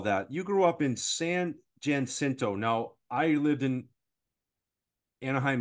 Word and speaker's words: San Jacinto: And just so you're aware, it's San Jacinto.